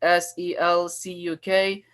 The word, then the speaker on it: Selçuk: its like original Turkish, it is spelled with like C, like Selcuk. But that C in the Turkish alphabet, there is a like sadila under it, and it sounds like a J in English, and it sounds like Saljuk.